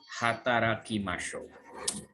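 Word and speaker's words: 働きましょう: Ashita gogomade hataraki masho. Jadi ini dibacanya ha bukan wa ya.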